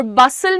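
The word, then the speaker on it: bustle: और बसल में तुम्हारा टी साइलेंट है।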